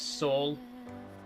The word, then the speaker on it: Saul: My name's Saul. Rhymes with Paul.